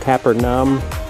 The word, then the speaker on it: Capernaum: want to talk down there more the correct pronunciation is kaepernum and here is ancient ruins all stone carvings